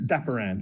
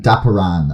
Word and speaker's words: Dapiran: last question is it dapperin or de pirin or how do you pronounce your last name uh oh yeah sure it's it's daparan dapperan okay stop around okay that